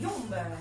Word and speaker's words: Yomb: Nous avons le Yomb. Yomb qui s'écrit Y-O-M-B.